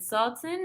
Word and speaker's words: Sultan: Sultan, is that how you pronounce it?